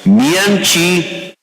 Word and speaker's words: 明奇: Mian Chi. Okay. Now you sound like a Taiwanese. When you pronounce it, it's more like a Chinese.